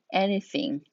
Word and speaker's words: anything: 발음은 anything 이렇게 th 발음을 살려주시는 게 좋고요.